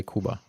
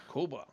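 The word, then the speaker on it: کوبا: Like that's what how we say it in Persian. We say Kuba. Kuba.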